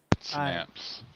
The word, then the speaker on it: Synapse: Synapse.